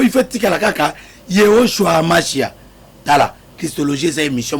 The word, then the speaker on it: Yehoshua: Ba prononcer comme na hébreu. Yehoshua Amashia. Au nom de Yehoshua Amashia.